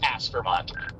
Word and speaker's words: Aspermont: I'm one click out of the all subs and aspermont. Okay. So, Aspermont has three syllables. It's as permont. Aspermont.